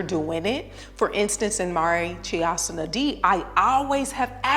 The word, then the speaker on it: Marichyasana: It's pronounced Marichyasana D.